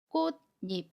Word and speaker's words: 꽃잎: 비극과 모음 2 가 만나면 이를 니 로 발음합니다 그래서 꽃 잎 이 돼요 모음 이에 에 이은 이 더해져서